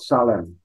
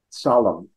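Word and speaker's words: צלם: I mean, we are, there's a biblical scholars pointing out in Hebrew, we're imbued with what's called salem, solemn, with a TZ sort of sound at the beginning, which is translated as the divine image.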